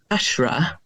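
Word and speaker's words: PASHRA: Um there's another one which is American uh which is called Ashra spelled like it sounds um p a shr a and um that's extremely informative about many aspects of kink.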